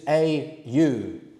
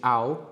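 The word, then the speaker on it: 会う: The informal verb is just au, which is pronounced more like aw.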